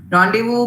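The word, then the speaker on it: rendezvous: basic tendency to read it is Rond deu randevu means um a meeting which is pre-arranged one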